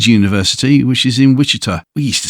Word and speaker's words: Wichita: I say Wichita.